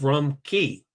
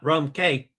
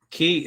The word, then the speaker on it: Cay: It's Rum Cay, not Rum Cay, folks. Key is the proper pronunciation of C-A-Y, not like they do it on Coco Cay.